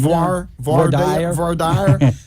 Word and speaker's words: voir dire: Voir dire. It's voir like dire.